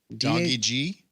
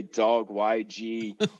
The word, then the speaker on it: DawgyG: Doggy G. You're the first person that actually pronounced it right on their first try. Most people say dog YG or something like that, but it's doggy G.